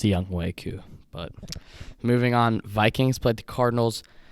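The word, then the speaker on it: Younghoe Koo: Young Ho Koo looked like a stud. He got me like 17 points in fantasy, so that's good for a kicker. Actually, it's pronounced Young Wei Koo.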